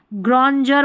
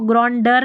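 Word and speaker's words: grandeur: यहाँ पर है ग्रॉन्जर बोलते हैं, इसको ग्रॉन्डर नहीं बोलते।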